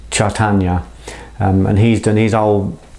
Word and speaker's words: Chaitanya: of the incarnations of Krishna was called uh chartana sorry it's difficult to pronounce chaitanya and he's done his old kind of term